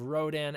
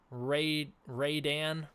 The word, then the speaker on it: Rodan: I've heard breakdowns pronunciation of Rodan as Radan. Great, I love it. Oh boy. Pronunciation of Rodan as Radan. Seriously, guys. Seriously, do you guys even know English? Yeah, it's not even spelled with an A at the start, so I don't know why they do that.